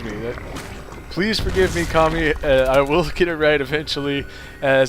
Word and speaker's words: Kami: be kami who have been saying his uh name wrong this entire time is not cami it is kami the teal zerg and